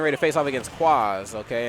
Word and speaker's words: Kwaaaaz: It's father-son bonding, getting ready to face off against Kwaaaaz, okay? And I say it exactly how it's spelled.